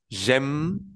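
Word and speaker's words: j'aime: lado por h muda Entonces se dice yem yem yem aplicando la regla que ya sabemos que es un verbo terminado en r dejo la raíz que sería la a la i y la m y le agrego la terminación de y que sería la e entonces digo yem porque en la e final no suena yem yem eso es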